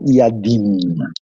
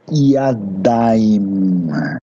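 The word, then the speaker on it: ידיים: Então, quando você vai falar mão, você não fala yadim, porque você não tem muitas mãos, não é um polvo falando, né? Então, é yadaim, yadaim, tá vendo?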